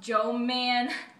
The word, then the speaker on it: Jermaine: Well, my name's Jermaine, but it's pronounced Joe Man.